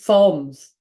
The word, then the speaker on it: Psalms: Palms, palms, Psalms. There we go. I'm saying it right. Psalms. Psalms. How can I just remember to say it like that? Psalms. Psalms. Rhymes with poems, songs.